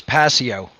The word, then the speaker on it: Passio: to be here absolutely the pronunciation of your last name for people it is passio okay yeah so i